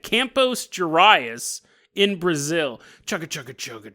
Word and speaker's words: Campos Gerais: Sorry, it's not even close to how you pronounce it. I don't even think there's any word that's pronounced like that. It's almost like I got lockjaw in the middle of saying that.